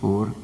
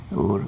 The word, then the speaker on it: Ur: on on ancient Mesopotamia you may hear them pronouncing the word air but the correct one is ur ur that is the city from which Abraham came